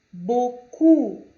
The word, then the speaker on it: beaucoup: Beaucoup, como na palavra ou, beaucoup, na palavra beaucoup, na última sílaba eu tenho o O e o U, beaucoup, ok?